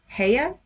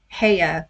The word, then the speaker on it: Haigha: He pronounced it so as to rhyme with mayor." Heya? That is not how it's spelled. It's spelled Haigha. Heya, mayor.